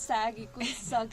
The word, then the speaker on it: Sagg: So my friend here came across this post on Instagram that Sagg, we pronounced it as Sagg Eco Village is organizing some event, and she literally dragged me into this.